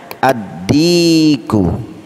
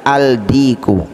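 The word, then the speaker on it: الذكر: huruf Dal huruf Dal Contohnya adzikru adzikru nge-add aku jadi ndak boleh kita baca aldiko Salah huruf qamariah huruf Syamsiah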